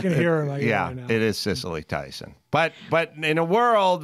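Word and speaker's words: Cicely: And just to be clear, I think both of your mean grandmas know that it's pronounced Sicily. Sicily, it is. Yeah, I can hear her. It is Cecily Tyson.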